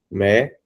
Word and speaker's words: médico: Médico. Então, veja que a sílaba forte da palavra médico, a sílaba mais forte da palavra médico é a antepenúltima sílaba.